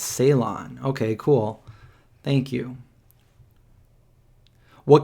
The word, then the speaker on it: Ceylon: Ceylon is how you pronounce. Thank you. So I'm over here saying say Ion or Lon, but it's Ceylon.